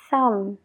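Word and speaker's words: thumb: se pronuncia la B es cuando viene después de una m como en las palabras clim de escalar clim Sam de pulgar thum entonces paramos la palabra justo donde está la m ignora la B completamente a la hora de pronunciarlo pero no te olvides de escribirlo eh lam de cordero lam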